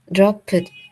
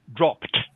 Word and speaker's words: dropped: sometimes with English words the Ed is pronounced just like a t so you say dropped not Dro it I